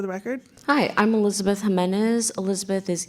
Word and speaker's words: Jimenez: state your name and spell it to the spell it for the record hi I'm Elizabeth Jimenez Elizabeth is e l i z a b